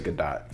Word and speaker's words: Gadot: could dot godot um how do you say it i think it's good dot did not that's what i heard yeah okay she